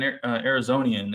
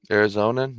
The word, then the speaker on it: Arizonan: What have you noticed as an Arizonian? Is that how you say it? Arizonan, yeah.